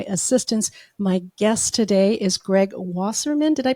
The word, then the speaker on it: Greg Wasserman: My guest today is Greg Wasserman. Did I pronounce that correctly, Greg?